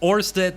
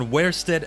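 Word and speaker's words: Oersted: I think it's pronounced Orsted, not Wersted. I'm not sure.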